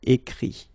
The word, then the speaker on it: écrit: Remember that phonetically this final T doesn't exist. Okay? So the sound will be only this I, écrit.